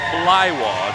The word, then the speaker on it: Blaiwas: junior lightweight limit 120 7.1 pounds again that's pronounced fly wah just in case there was any confusion on